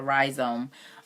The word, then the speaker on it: rhizome: calling it that this this word is spelled RHIC ome a rhizome and it was saying